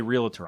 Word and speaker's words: realtor: his realtor business and i didn't say realtor i thought about adding another syllable i thought it'd be